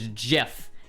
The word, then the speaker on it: GIF: what I mean like nobody in their right mind is going to call a gif a gif right there was I I remember like in 2014 there was a very devoted subsect to people who are like adamant that it was JF and they were super like pretentious about it and you know what no one's ever going to call it gif that's never catching on I don't care if